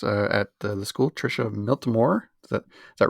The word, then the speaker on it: Miltimore: our uh teachers uh at the school trisha miltomore is that is that right yeah that's perfect